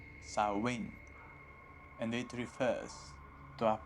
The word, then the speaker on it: Samhain: potential death some pain is a Gaelic word pronounced sarwin and it refers to a pagan religious Festival